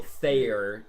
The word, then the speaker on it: Thayer: So Thayer is his official pronunciation.